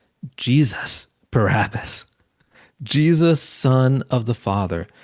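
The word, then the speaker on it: Barabbas: Now, the name, let me pronounce it a little differently. Bar Abbas. Bar Abba. It literally means son of the father. And Matthew actually gives us his first name, Jesus Barabus.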